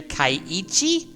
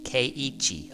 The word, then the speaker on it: Keiichi: Kaiichi? Okay. I've just been saying Kichi, like, K-E-I-I, Ki, and then Chi, Keiichi.